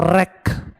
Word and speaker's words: wreck: is damaged after aeroplane blast so it's called wreck w-r-e-c-k-w is silent w-r-e-c wreck cosmetic resultant cartilage skeleton spelling